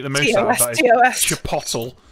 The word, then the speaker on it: chipotle: Do you know, the one that I hate the most about that is chipotle. People over here have called chipotle chipotle.